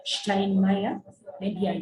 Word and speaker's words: Steinmeier: This S, we shall see probably in our next lesson, that is when we shall learn the alphabet. We shall see why we pronounce this as a she sound.